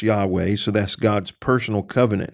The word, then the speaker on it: Yahweh: Hebrew words here used one is we pronounce yah way so that's God's personal